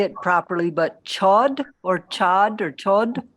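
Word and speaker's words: Chöd: Venerable, are you talking about, I don't know if I'll say it properly, but chod or chod or chod? Chud.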